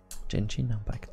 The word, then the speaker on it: Genshin Impact: Est-ce que vous avez joué dans le chat à alors je sais pas trop comment faut le prononcer, mais à Genshin Impact. Genshin Impact, c'est comme ça que ça se prononce.